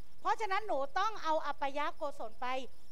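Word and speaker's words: อปายโกศล: อัน ที่ 2 โกศล ที่ 2 อ่าน ว่า อัปยะโกศล อัปยะโกศล นะ คะ คือ ความ รอบ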